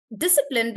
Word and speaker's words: discipline: Discipline, because it's 3 syllables, we say it like discipline.